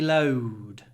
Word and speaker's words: load: And don't forget that although you don't see it, this word has a lot of w in it. Load, load, load. Load rhymes with flowed. It's the same sound, different letters.